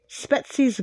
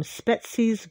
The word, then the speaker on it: Spetses: shout out all I possibly tune different Greece spetses Greece really so one looky looky looky looky